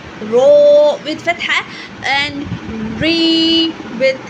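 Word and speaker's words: ر: And the common mistake we have to say that I have to give you 2 common mistakes. Number 1 is do not roll the tongue too much or too many times. Okay, number 2, do not stop the sound completely.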